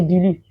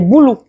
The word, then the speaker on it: Bulu: C'est les boulous. Excusez-moi. J'ai pour cette sale habitude de prononcer bulu. Les boulous. Et ça s'écrit B-U-L-U. Moi, je lis bulu, bon, d'autres vont dire les boulous.